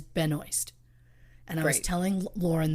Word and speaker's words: Benoist: Melissa Benoist now look the Canadian in me wants to say her last name as benois yeah but I went and watched YouTube videos of her saying her name so I could pronounce it the way she wants it pronounced and she says Benoist and I was telling